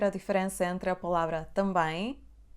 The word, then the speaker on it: também: Então, a palavra também tem duas sílabas. Tão bem. Na primeira sílaba, por causa da letra M, depois da letra A, temos o som A nasal.